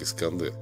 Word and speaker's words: Искандер: Имя Александр в персидском произношении звучит как Искандер, названное в честь Александра, в котором по древнему преданию и утонул его любимый конь.